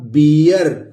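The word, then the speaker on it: beer: अगर EA आया है या डबल E आया है, जैसे मान लीजिए कि यहां लिखा बियर तो ये ब लिखा, बी अ आ रहा है ना तो बी अर।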